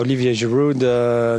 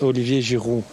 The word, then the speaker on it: Giroud: it I need education well in French is Olivier jiru Kate you say you